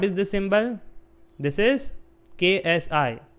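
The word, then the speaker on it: xi: This is KSI. You can say it as sky, okay, or psi. Generally K is silent. We say it as psi, but it is KSI.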